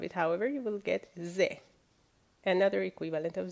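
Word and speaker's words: ز: If you put one dot on top of it, however, you will get Z, another equivalent of Z in English.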